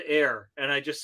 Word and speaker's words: Ayr: Is it Air? Air? Okay. It's Air, Ontario.